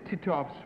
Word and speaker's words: Titov: Number two, what is Titov's first name? How do you pronounce his last name?